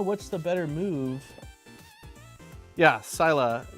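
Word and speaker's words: Scylla: Sila is how you say it. I think I've got it right here. I don't know what's the better move. Yeah, Sila.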